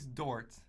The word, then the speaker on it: Dort: As of recently, the starting shooting guard's name, Luke Dort. Oh God, yeah, him. Him. That's it. I believe that's how you pronounce his name. Luke Dork, more like it. No, Dort. Oh yeah, Dort.